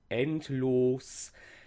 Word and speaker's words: endlos: Kindlein, Lich, freundlich, los, endlos. And with this los suffix, it almost receives a double stress. It's a long O at the end. It's not quite equal, but more equal than the others.